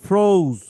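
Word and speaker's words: frozen: আচ্ছা, এখানে ও পড়ছে কি মাইনো ফ্রোজ। ফ্রোজ তো বললা, ফর অ জেড E silent ই, এটা তো জানার কথা সবার।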